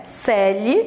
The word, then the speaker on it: Coeli: Professora Eusínia Yara Celi, a pronúncia é Celi, mas a escrita é Coeli, ok?